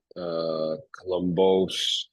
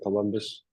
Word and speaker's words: Kolombos: Uh, it's not always pronounced Columbus, Colombos, different pronunciations. I take all of them. I usually say Columbus, um, and I usually get met with a similar reaction to you.